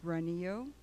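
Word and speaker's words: Granillo: lot of requests to speak form so granny Oh representing self from Tempe hello my name is a na and the last name is spelled G RA and I ll oh it's runny oh I live in Tempe I'm representing myself and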